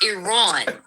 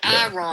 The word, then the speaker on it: Iran: And I wish they would quit saying it wrong. We don't say Itali. It's Iran. Not Iran. Iran, they say, I mean, look, tomato. I get it, but it's Iran. Like, can we at least, if you're going to demonize the people, at least learn how to say their fucking country's name?